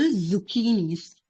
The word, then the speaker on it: zucchini: So, zombie zits resemble zucchinis. Z. Okay. Uh, your tongue should meet your front teeth.